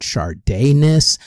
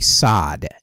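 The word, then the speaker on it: Sadeness: and Mea Culpa, and everybody either pronounces it Chardiness or Sadness. It's actually Sod, as in the Marquis de Sade.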